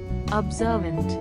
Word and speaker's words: observant: is very easy and the emphasis on second syllable sir want observant the meaning of